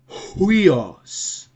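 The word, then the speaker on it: υἱός: It's gonna be huios, huios, huios. So always make sure that you have this H vocal, H sound, like a sound.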